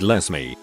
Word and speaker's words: Lesme: is a girl named Lesme, pronounced like Leslie but with an M.